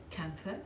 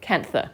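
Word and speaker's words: kantha: we how do you say that one again cancer cancer k-n-t-h-a it's an indian method it's um this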